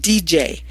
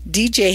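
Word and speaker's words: Deej: It's called DJ, which is spelled D-E-E-J. DJ has graduated college, given lectures, directed plays, and written articles.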